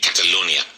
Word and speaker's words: Catalonia: But so in English we say actually Catalonia.